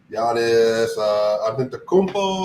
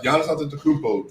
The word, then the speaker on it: Antetokounmpo: Giannis Antetokounmpo, I think is how you pronounce his name. They have Giannis Antetokounmpo, Drew Holiday, Chris Middleton, Brook Lopez.